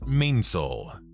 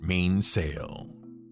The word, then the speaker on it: mainsail: and by the way the sailing vernacular is to pronounce it mainsall not mainsail the thing that made